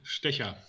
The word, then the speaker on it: Stecher: name tell us tell us your last name again yeah well we pronounced with sticker now you're fit people